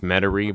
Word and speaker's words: Metairie: think that it's pronounced Metairie but it is it's obviously a French word um so we know